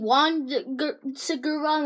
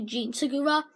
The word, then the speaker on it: Jean Segura: you say his name I was saying one cigarette I looked it up and it's actually Jean Segura like jeans so yeah this was